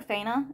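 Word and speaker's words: Faina: girl who calls herself F I could never pronounce his name I called her FAA it's fa a i n a seems to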